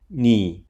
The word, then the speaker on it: 妳: Mingwen is asking Gloria, so he uses the "female" radical "妳" (Nǐ) since the pronunciation of "妳" and "你" (Nǐ) is the same.